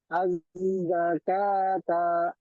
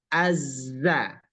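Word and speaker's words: الزَّكَاةَ: atas du azzakata ulangi azzakata jadi dia dibaca Azza Azza di agak tenaganya tu agak ada pengucapan znya Azza tenaganya Ulangi azzakata bagusamamta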